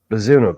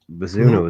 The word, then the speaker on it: Bazunu: How do you pronounce it? Bazunu, Gavin Bazunu.